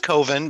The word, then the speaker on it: coven: I think it's pronounced coven, but go on.